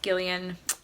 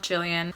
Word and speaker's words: Gillian: I've since learned that it is pronounced Gillian, not Gillian.